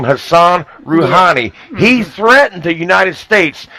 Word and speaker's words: Rouhani: This was to the Iranian president, Rouhani. That's how you pronounce his name.